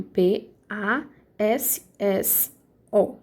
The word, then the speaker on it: passo: gente tem cinco letras mas quando a gente vai pronunciar a gente pronuncia passo então esses dois s a gente não vai pronunciar os dois essa a gente não